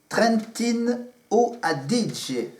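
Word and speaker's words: Trentino: région du Trentin du Trentin Trentin o si je le prononce à l'italienne ce matin Tom et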